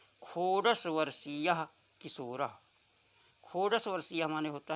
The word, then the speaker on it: वर्षीय: और जब यही अक्षर बीच में आ जाता है, यही वर्ण बीच में आ जाता है, तो ये सा का उच्चारण देता है। वर्षीय, जैसे विषय पढ़ते हैं, विशेष पढ़ते हैं, तो अगर प्रारंभ में न हो करके अन्यत्र किसी स्थान पे होता है तो उसे सा पढ़ा जाता है, और प्रारंभ में